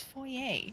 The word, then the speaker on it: foyer: But then there's the part of my brain that actually understands French that goes, "No, it's foyer." Mhm. It's not an English word.